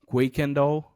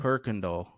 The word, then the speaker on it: Kirkendall: So if you look how it's spelled, you will say Quakendall, but it's actually Hmm. Kirkendall.